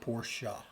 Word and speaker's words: Porsche: So the Germans pronounce it Porsche. Porsche. Yeah. But the Americans call it the Porsche? Or the porch?